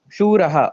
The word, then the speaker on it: शूरः: It should have been Shuraha or Shuras, but I think I missed that.